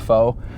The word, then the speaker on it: faux: I for one didn't know how to pronounce the word faux or how to spell it. Yeah, I got a fox finish. Faux, yeah, exactly.